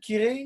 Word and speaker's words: Kirei: much for joining me everybody that's onakire you've pronounced it kirei here last night ah perfect so i mean